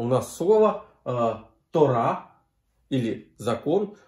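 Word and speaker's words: תּוֹרָה: Либо она может ставиться с согласной буквой ВАВ, да, и здесь у нас слово ТОРА или закон, ударение на последнюю букву, ТОРА, закон, и вот ВАВ с точкой наверху читается ТОРА.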